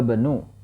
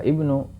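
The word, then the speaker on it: ابن: wnu Hamidin fil Hindi khorjabanu langsung karena ini hamsah wasol bukan khoraja Ibnu ya maka pengucapan yang kaidah yang benar menggunakan hamzatul wasal maka seperti ini khibi Minal Baiti ya anaknya dokter keluar dari rumah dahahaba bnu ya langsung dahahaba Banu bukan dahahaba Ibnu dahahaba Bu tajirii anaknya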